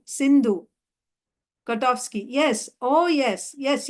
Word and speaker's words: Sindhu: You know, there is a river Indus, which is Sanskrit name is Sindhu. Sindhu. KOTOVSKY. Yes. Oh, yes. Yes, yes. Prabhupada. These Mohammedans, they pronounce sa as ha.